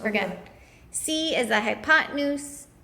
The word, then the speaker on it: hypotenuse: you said you said hi pop pop pop hypotenuse it's written up there on the paper in case you were gonna see as I hypotenuse C equals 5 ready go it's my bad